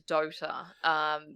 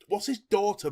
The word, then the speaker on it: Dota: People are going to hate me for this, but it's very similar to Dota.